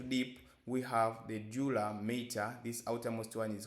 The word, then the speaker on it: mater: The pia mater. You might have had different pronunciation here, so it's a mater with a single T and not matter with double T.